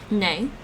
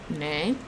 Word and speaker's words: 你: Nay. 你 The rising tone. Nay. Here's how to say, English.